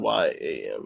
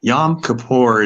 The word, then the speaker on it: Yom Kippur: Is it Y-O-M. YOM, not YAM. Okay. Mm-hmm. Space KIPPUR, I think.